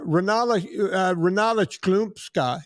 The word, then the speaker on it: Renata Chlumska: When I think about this woman, I think about people like Diana Nyad, Renata Chlumska is the way her name is pronounced, Amelia Earhart, and this woman, none other than Caroline Paul.